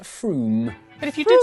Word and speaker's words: Frome: Frome, it should be blitheringly obvious, is pronounced Frome.